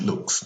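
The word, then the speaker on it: Luks: His name is George Lux, not George Lucas, the movie maker. He's an artist. His last name is spelled L-U-K-S.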